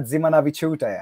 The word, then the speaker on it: Dzimanaviciute: Evelina Ximena Battuta how you doing Avelina that's great thank you